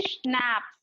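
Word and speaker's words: schnapps: स्नैप्स, what is the meaning of स्नैप्स, जिसको pronounce करेंगे स्नैप्स, a German drink, slow, a musical instrument, एक musical instrument.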